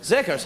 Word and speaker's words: Zegers: Our next guest to the program is Zegers. Did I say it right? Zegers? Zegers. Zeggers.